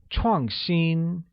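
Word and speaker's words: 创新: which translates as chongxin chuangxin is pronounced with a falling tone on a and a high level tone on i good now let's see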